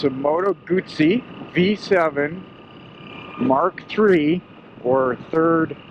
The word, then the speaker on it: Guzzi: It's not Guzzi, by the way. It's Guzzi, like pizza. 2 Z's are pronounced as a T.